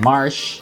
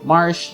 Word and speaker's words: Marche: I found this Reddit thread and most folks there pronounce it like the word marsh, which is also how I've always pronounced it.